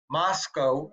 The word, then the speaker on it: Moscow: with an interesting town, Moscow. And the locals say you pronounce it Moscow rather than Moscow. They want the name they say to rhyme with Costco.